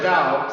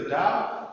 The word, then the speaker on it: dao: Um the way or dao sometimes translated or the earlier romanization is tao but it's still just pronounced uh da uh as on the